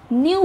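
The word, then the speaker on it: knew: अब हम लिखते समय तो इसकी स्पेलिंग के एन ई डब्ल्यू लिखेंगे पर बोलते हुए हम इसको न्यू बोलेंगे के की आवाज नहीं निकालेंगे।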